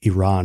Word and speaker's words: Iran: sticker that said hey iran and i say it that way because that's how they say it in indiana um hey i